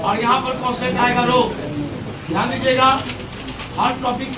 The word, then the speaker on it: rho: इसको बोलते हैं प्रतिरोधकता, और इसका नाम है रो, RHO होता है रो, है ना ऐसा। इसमें H साइलेंट है, ध्यान दीजिएगा।